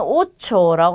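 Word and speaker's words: ocho: 자, 그 다음에 여기는 오초라고 합니다. 자, 둘 다 그냥 오로 발음하시면 되죠. 가운데 있는 요 글자가 치읓 발음이 나요. 그래서 오초라고 발음하시면 되는데 얘는 숫자 중에 하나입니다.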